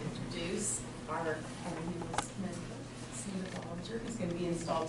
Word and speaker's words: Bollinger: Cynda, when you came the first time, I pronounced her name Bollinger, but I have been corrected. It's Bollinger, and I will pay the fine.